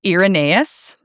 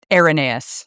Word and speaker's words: Irenaeus: Um there was Irenaeus, Irenaeus. I said it wrong the first time.